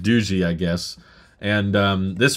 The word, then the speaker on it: Doogee: for those curious um you're tempted to pronounce it doggy or Doogie but it's pronounced duji I guess and um